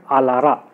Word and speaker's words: ALARA: Okay, it is nothing but ALARA. ALARA. What is, how I am pronouncing it?